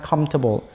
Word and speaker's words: comfortable: ហ្នឹង គេ សរសេរ comfortable ប៉ុន្តែ ពាក្យ ហ្នឹង គេ អាន ថា comfortable គេ អត់ មាន អាន ពាក្យ for ទេ គេ អាន ថា ពីរ ម៉ាត់ ទេ ពាក្យ ហ្នឹង វា ថាម ធាត ពិត វា មាន ស្រី syllable 3 ព្យាង ប៉ុន្តែ នៅ ពេល ដែល យើង pronoun បញ្ចេញ សំឡេង គឺ two syllable comfortable wow your house is